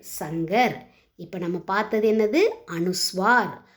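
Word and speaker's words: शंकर: ச இங்க இர் சங்கர்.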